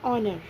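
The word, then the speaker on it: honor: Second है ऑनर, ऑनर भी एच से स्टार्ट हो रहा है जो कि कॉन्सोनेंट है, लेकिन इसका प्रोनाउंसिएशन एक वॉवल साउंड से स्टार्ट होता है, इसलिए हम यहाँ पर भी एन यूज़ करेंगे।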